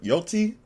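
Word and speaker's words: Yōtei: ever since Ghost of Yotei, that's how you say it, came out, or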